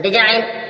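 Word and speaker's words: design: नहीं बोला जा रहा डिजाइन डिजाइन मीस नमूने या रचना यहां पर जी साइलेंट है आप एक बात देख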